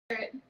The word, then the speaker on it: Eryet: She look like irate or irate? Eryet.